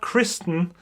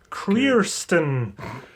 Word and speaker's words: Kirsten: not Kirsten it's not Kristen it's Kirsten I I think I automatically just assumed I hear Kristen because careers then it's not a name I think it's actually supposed to be Kirsten but they pronounce it so weirdly throughout the first half of the movie that it's Kirsten oh my goodness um